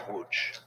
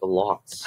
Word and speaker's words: Łódź: It leads to weeks of brutal winter fighting around the Polish city of Łódź. But there is... That's how you pronounce it? I thought it was like lots.